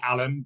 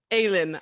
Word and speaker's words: Aylen: It's Aylen, which is a bit of a weird pronunciation, so don't worry. No, Most people call me Alan, but I answer to anything. You, I. Aylen, I love it, and Aylen.